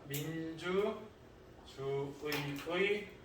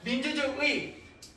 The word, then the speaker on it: 민주주의: 의로 발음하는 게 원칙이지만 뭘로도 발음한다? 이로도 발음한다.